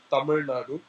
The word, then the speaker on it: Tamil Nadu: please repeat for the camera yeah it's called Tamil Nadu which is the southern part of India which